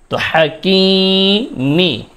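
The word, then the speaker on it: الحكيم: হাকিমি এখানে ওফ করলে মিম এর মধ্যে জের রয়েছে। ওফ করার কারণে মিমের সাকিন দিতে হবে।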